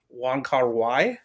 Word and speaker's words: Wong Kar-wai: I can always pronounce this wrong, Ryan. It's Wong Kar-wai.